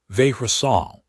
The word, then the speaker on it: Vehrasal: Vehrasal, the downward inflection on the second syllable, the way she'd corrected